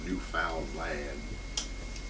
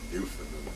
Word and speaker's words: Newfoundland: We call it Newfoundland today. Talk to a Newfoundlander, he will promptly correct you and say it's Newfound Land. It's like understand. It rhymes with understand, pronounced the same way.